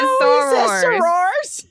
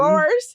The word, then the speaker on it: Soros: He said Sor and he is of course referring to George the same. It is not spelled the same. Yes. Sor no. And they're Soros. And he is a No, it's not. It's spelled. It's said different. Wait, can we write it down? It's not. He said the same. Soros. He says Soros.